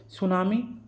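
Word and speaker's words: tsunami: मनाने की 2015 में सुनामी हिंदी में अंग्रेजी में इसमें टी साइलेंट होता है और सुनामी जो है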